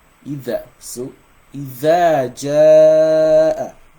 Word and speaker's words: إذا: So if you are saying iza jaa, it means you are pronouncing this the like a za, which is wrong. There's nothing like iza jaa. That's wrong. Nothing like iza jaa. It's either. So إذا جاء, right?